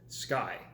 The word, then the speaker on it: SCCY: there I came across a company called sky and it's spelled SCC why now I read knows